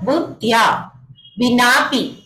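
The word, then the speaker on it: बुद्ध्या विनाऽपि: देखिए इसमें एक एस की तरह बना हुआ है तो वो साइलेंट होता है। जैसे आप लोग इंग्लिश में भी पढ़ते हैं ना कि ये चीज, ये शब्द क्या है, साइलेंट है, तो यहाँ पर क्या साइलेंट है, ए से अनार, तो वहां पर क्या बना दिया, एस की तरह बना दिया, यानी कि यहाँ पर ए साइलेंट है। ठीक है, तो बुद्धिया विनापी इस तरह से पढ़ेंगे।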